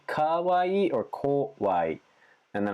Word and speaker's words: Kawaii: sound and make sure you don't say e don't extend e sound for scary for Kauai Kawaii Kauai foreign you really gotta